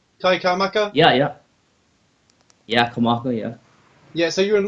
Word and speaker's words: Kamaka: Did I pronounce that right? Kamaka? Yeah, Kamaka, yeah.